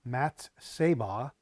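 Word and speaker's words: מַצֵּבָה: is H 4676 it's um mattz saah mattz saah is how you say it in the Hebrew and it's a pillar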